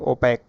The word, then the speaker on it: OPAQUE: उसे कहते हैं ओपैक, अपारदर्शी। फिजिक्स में आपने पढ़ा होगा पारदर्शी और अपारदर्शी, तो इसे कहा जाता है ओपैक। स्पेलिंग याद रखिएगा, OPAQUE।